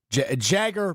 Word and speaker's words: Jagger: Um just real quick from Matt Schneiderman, Jagger Burton and he in parenthesis says it's pronounced like MC Jagger.